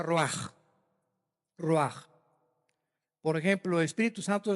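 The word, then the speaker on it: רוח: Roach se pronuncia roaj.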